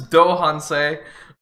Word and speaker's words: Do Han Se: me how to say his name this is dohan say uh the incredibly incredibly talented main rapper of